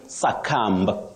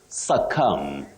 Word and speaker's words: succumb: b will oh Betty what we should avoid is saying succumb succumb no because the B at the end of that word is silent you say suum to suum not suum